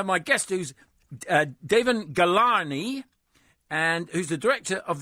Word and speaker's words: Ghelani: the line now my guest who's uh David galani and who's the director of The Polar the